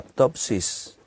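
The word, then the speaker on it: πτῶσις: La palabra ruina aquí en griego es la palabra ptopsis. Ptopsis. Se escribe P-T-O-S-I-S, ptopsis, que significa estrellarse, caer, postrarse.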